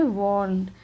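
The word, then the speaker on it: warn: camel ने चेतावनी दी तो यहां पर आर साइलेंट होता है इसे क्या पढ़ेंगे वर्न यानी कि द कैमल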